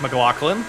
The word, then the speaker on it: McLaughlin: Speak of the devil, here is Nick McLaughlin, with no H pronounced in his name.